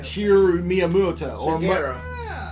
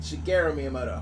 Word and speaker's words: Shigeru Miyamoto: Shigeru Miyamoto. Shigeru. Shigeru Miyamoto.